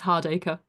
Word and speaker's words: Hardaker: So Professor Claire Hardaker, I hope I'm pronouncing your surname correctly, Hardaker, right? It's fine. Even British people struggle with it. It's Hardaker.